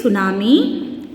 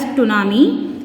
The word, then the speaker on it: tsunami: T is a silent letter. This is tsunami. Don't read as tsunami.